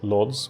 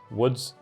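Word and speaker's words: Łódź: how to pronounce his Lords which I know is not lords in Polish it's more like wood wood woods something like that woods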